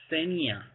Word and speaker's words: Xenia: I'm Xenia. Xenia. Like xenophobia. Oh my god.